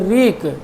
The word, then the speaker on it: wreak: WREAK, यहाँ पर W silent है और एक होता है, इसको पढ़ेंगे रीक, और BREAK अगर होता है तो पढ़ते हैं ब्रीक।